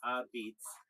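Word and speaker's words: apizza: They say New Haven pizza, locally called a pizza, pronounced a beats, is famous for its thin, chewy, and intensely charred crust, baked in high brick ovens.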